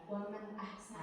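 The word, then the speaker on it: وَمَنْ أَحْسَنُ: Waman ahsana. Nah, jadi harus jelas ya. Hamzah itu harus jelas, jangan dibaca berdengung.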